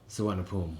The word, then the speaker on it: Suvarnabhumi: You can from the international airport, which is called Suvarnabhumi. Thank you for pronouncing that.